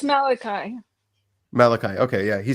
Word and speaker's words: Malachi: the prophet that's close enough yeah yeah it's Malachi Malachi okay yeah he says he love God